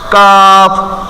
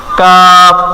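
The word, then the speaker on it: كاف: ওই গোড়া থেকে সামনে জিহ্বার গোড়াটাই সামনে আনবো কাফ কাফ একটু ট্রাই করেন কাফ তারপর লাম লাম কিন্তু আমরা সোজা ভাবে লাম উচ্চারণ করি লাম এখানে হবে জিহ্বার আগার কিনারা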